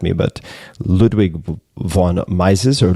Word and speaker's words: Ludwig von Mises: this name, so you can correct me, but Ludwig von Mises or Ludwig von Mises, I'm not sure. Ludwig von Mises.